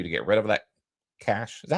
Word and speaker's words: cache: I opened Patreon back up, so in order for you to get rid of that cache, is that how you pronounce it? Yep, cash.